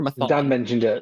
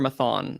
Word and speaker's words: Mathon: So it's the Claire Maton or Mathon? I can't remember. Is it, how do you pronounce it? She's French, so we'll go with the sharp T, Maton. Okay, Maton.